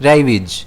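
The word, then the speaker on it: ravaged: इसे हम प्रोनाउंस करेंगे रेबीज। जिसमें स्ट्रेस जो है वह आर पर रहेगा।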